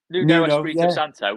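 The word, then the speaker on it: Nuno Espírito Santo: But Espirito Santos, is that how you pronounce it with my pronunciation? Yeah, Nuno Espirito Santo.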